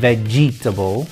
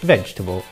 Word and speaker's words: vegetable: bowel sounds for example in the word vegetable we don't save their jitta ball we say vegetable some other examples are